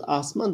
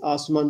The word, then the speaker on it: asuman: Peki, asuman anlamında, tabii doğru telaffuz asman da biz asuman diye de telaffuz edebiliyoruz.